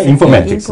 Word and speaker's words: 인포매틱스: 인포매틱스는 정확한 발음은요. 인포매틱스.